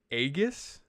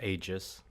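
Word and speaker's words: Aegis: the correct pronunciation so I read it as the msi agus or is it ages it's ages ages that's so stupid aeg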